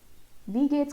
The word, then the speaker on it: wie geht's: Wie geht's का pronunciation है we English में जैसे हम we बोलते हैं वैसे ही हमको ये word pronounce करना है wie geht's, wie geht's.